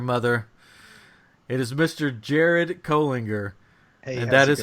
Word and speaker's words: Colinger: brother from another mother it is Mr Jared kinger and that is how you pronounce his name and he's here with us